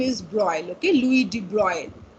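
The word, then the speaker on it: de Broglie: that the pronunciation is broil okay louis de bruyne the s is silent and the g is silent so louis de bruyne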